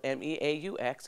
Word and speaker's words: Meaux: It is spelled M-E-A-U-X and it's pronounced Meaux.